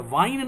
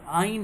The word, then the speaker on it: yne: ठीक है, लेकिन इसका प्रोनाउंसिएशन क्या होता है? वाइन नहीं होता। इट इज नॉट वाइन, वो से नहीं है, ये आइन है, आ से स्टार्ट है।